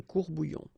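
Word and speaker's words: courts-bouillons: Un courbouillon, and then if you want to put the plural form, well, same rule, S, S, you don't pronounce it, des courbouillons.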